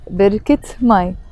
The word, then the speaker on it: بركة ماي: I'm pronouncing the T مربوطة of بركة because it's followed by ماي. If it's just في بركة, I don't pronounce the T مربوطة. But if it's followed by ماي, I pronounce the T مربوطة and I say في بركة ماي.